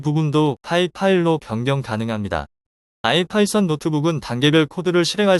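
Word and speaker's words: ipynb: 이름을 수정할 수 있습니다 뒤에 있는 ipb n 파일 형식으로 아이파이썬 노트북이라고 읽으며이 부분도 파이 파일로 변경 가능합니다 아이파이썬 노트북은 단계별 코드를 실행할 수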